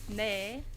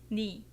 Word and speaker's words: 네: When you pronounce 네 is correct according to standard pronunciation. It often sounds like 네, so they can be confusing. So people usually pronounce it just 니.